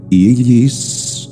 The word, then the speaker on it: Isis: obviamente la vocal I, y la letra S, prolongada como un silbo dulce y apacible, invoca a la serpiente sexual para que suba victoriosa por el canal medular espinal.